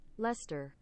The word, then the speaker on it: Leicester: Now, it's pronounced Illister, not Illicester, because it's based off of the English pronunciation, like, even if I can spell it, is the town of Leicester, which is pronounced Leicester. Leicester, in Leicestershire. It is pronounced Leicester. Leicestershire.